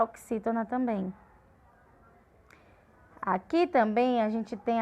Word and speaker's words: também: A palavra também, que a gente viu no exemplo anterior. Também, a gente viu, que a sílaba tônica é o bem.